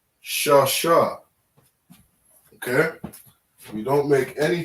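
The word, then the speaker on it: שש: Shasha, all right, as we were saying, Shasha is the number 6.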